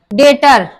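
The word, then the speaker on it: debtor: डेटर, तो इसमें भी वी साइलेंट है क्योंकि वी के बाद टी आया है, तो डेटर बोलेंगे।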